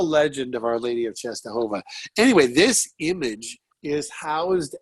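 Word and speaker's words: Częstochowa: don'ts about sister just to come up I'm pronouncing correctly yeah it's Czestochowa just a whole lot yeah yeah so Our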